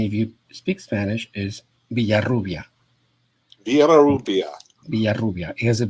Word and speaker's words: Villarrubia: your last name well there are two ways to pronounce it in spanish and in english because i don't expect